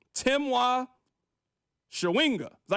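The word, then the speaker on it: Chawinga: Shawinga. That's how you pronounce it.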